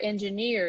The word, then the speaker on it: engineer: this one because of the word engineer software engineer is a profession in the IT world engineer